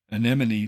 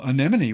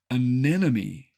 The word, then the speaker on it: anemone: how to say anemon think of it as any money but with the accent on the second syllable and you'll get it